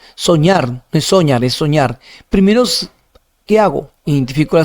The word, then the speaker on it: soñar: Soñar, no es soñar, es soñar. Primero, ¿qué hago? Identifico la sílaba tónica y si termina en R, no lleva tilde.